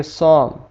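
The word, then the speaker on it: psalm: Pneumatic, यहाँ पे न्यूमेनिया, यहाँ पे पी के फौरी बाद एस आ गया, यहाँ पे भी पी साइलेंट हो जाएगा तो इसे हम पढ़ेंगे सॉम।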